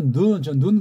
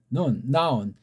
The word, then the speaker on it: noun: 이거는 오늘날 또 남보다 눈 그러죠. 빨라가면 여기 이 독일식의 나온자라는 발음을 청산하고 눈 쪽이 된다고요. 나온.